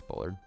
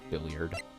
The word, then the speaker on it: Bullard: or misreading it but it's it's Bullard not billiard so um what happened